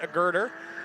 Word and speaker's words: Agurder: I think that is Nick Agurder. I mispronounced it horribly in the first session, and got the Instagram story about the pronunciation. So I fixed that, Agurder, and he's out there